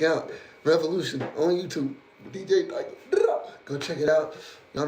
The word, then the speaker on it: Diako: Y'all know my name right here, DJ Dyko is how you pronounce it.